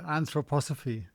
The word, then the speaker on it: anthroposophy: Uh, anthroposophy.